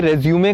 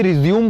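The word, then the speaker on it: résumé: व्यक्तिगत विवरण को अंग्रेजी में रेज्यूमे कहा जाता है। लोग इसे रिज्यूम बोलते हैं पर वो गलत है। रेज्यूमे असल में फ्रेंच लैंग्वेज का वर्ड है और फ्रेंच में इसे रेज्यूमे प्रोनाउंस किया जाता है।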